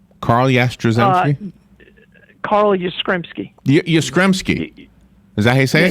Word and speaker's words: Yastrzemski: All right, so tell me how to pronounce his name again, because it's important to pronounce it right. Carl Yastrzemski. Yastrzemski.